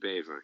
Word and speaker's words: Bever: well yeah beaver yeah the dutch pronunciation would be beaver yeah yeah which is